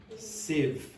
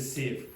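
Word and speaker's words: sieve: It's a civ. Okay. Do not pronounce the e. Okay. It's a civ.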